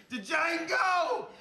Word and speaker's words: Django: Django, you black son of a bitch. The D is silent here, baby.